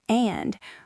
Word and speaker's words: and: Think about the word and. We rarely pronounce the A and the D.